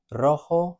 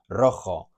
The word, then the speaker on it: rojo: It's never pronounced like a J in English.